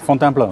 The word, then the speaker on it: Fontainebleau: Fontainebleau, yeah.